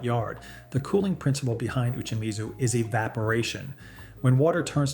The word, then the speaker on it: uchimizu: The practice is called uchimizu, pronounced "oo-chee-mee-zoo", and it goes back to the Edo period in the 17th century.